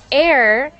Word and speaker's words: heir: these two um air this is pronounced exactly the same air air and air and the air is the person who